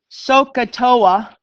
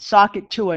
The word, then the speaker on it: SOHCAHTOA: little mnemonic device and I always say it wrong because of my Boston accent so I'm gonna try to say it right sohcahtoa I always said sock it to her no I didn't say that sohcahtoa i S stands